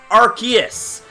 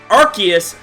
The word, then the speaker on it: Arceus: Arceus. Notice the similarities in pronunciation here, and what RKS system does is,